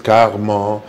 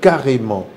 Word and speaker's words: carrément: a sûrement par exemple carrément les gens disent qu'armand qu'armand parce que y avait un illustre journaliste sportif bassong à zynga qui le disaient alors tout le monde aujourd'hui crois que on dit qu'armand non on dit carrément voilà par exemple j'aime